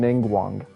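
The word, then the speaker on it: Ningguang: And by the way, you pronounce her name Ning Wang.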